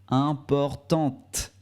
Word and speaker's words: importante: on ne prononce pas le final mais on prononce le thé importante impor tante il est assez doux le thé mais on